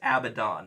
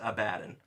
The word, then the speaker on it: Abaddon: or the other I think I think it's Abaddon according to GW okay but that everyone says abaddin I mean not everyone not everyone a lot